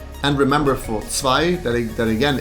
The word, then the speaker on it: zwei: And remember for zwei, that again, it's not zwei, it's zwei.